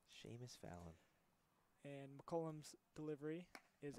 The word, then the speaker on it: Seamus: That's Seamus Fallon. Oh, Seamus. Wow. I would have never guessed that. Yeah, Seamus is one of those names that doesn't look or it doesn't sound how it looks. Seamus Fallon.